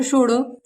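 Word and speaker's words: should: ओ यू एल डी, डी से पहले हमारा एल आया है तो एल क्या है हमारा? साइलेंट। इसे पढ़ेंगे बोर्ड, स्कूड, शुड।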